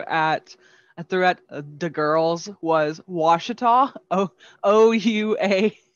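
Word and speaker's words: Ouachita: i just threw at throughout the girls was washita o-o-u-a-c-h-i-t-a washita the difference between nakadish nacodocious and this one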